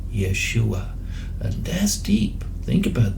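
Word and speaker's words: ישוע: And this is deep, because what you'll see in a moment, and this Hebrew word here, pronounced Yeshua, right?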